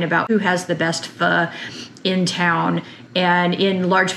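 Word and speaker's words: phở: back to my kitchen today we are making F often called foe by those who are not in the no pronunciation wise uh and this is a Vietnamese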